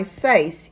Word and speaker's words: face: 않고 그냥 입술끼리 부딪히는 발음이 나기 때문에 my face 약간 쌍비읍에 가까운 발음을 하셔야 됩니다.